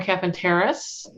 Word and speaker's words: Capenteris: I'm Capenteris, and it's pronounced just like it's spelled.